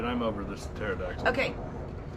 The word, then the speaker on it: pterodactyl: right i'm over this pterodactyl okay i guess the p is silent oh that's when you